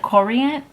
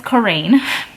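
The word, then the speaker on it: Corayne: said one of the characters names and i pronounced it wrong start with my life i i think i said korean korean her name is corrine said it wrong um but i did but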